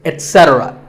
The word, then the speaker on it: etc: number three is etc a very common incorrect pronunciation is to say ek etc instead of it don't say that and also remember that the stress is unsaid so the word is etc you will also hear etc that is less common but it's okay too next up is often